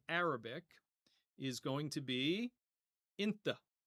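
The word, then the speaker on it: أنت: Sometimes this will be spelled with an A at the end, other times with an E, but whether you hear inta or inta, it means you in the masculine singular.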